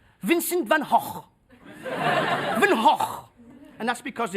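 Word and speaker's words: Van Gogh: stage you know we pronounce his name Vincent Van go the Americans they pronounce his name Vincent Van go both wrong both wrong oh yes the Dutch they pronounce his name Vincent Van HW van HW and that's because don't pronounce the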